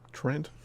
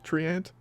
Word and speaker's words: Treant: But I get a angle on the Twent, which kills Trent. The Treant. Wow, I've been mispronouncing that almost the entire time.